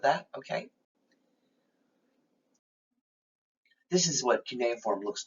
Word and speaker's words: cuneiform: ancient egypt that's really considered a picture language cuneiform that's how that word is pronounced which means wedge-shaped is actually a written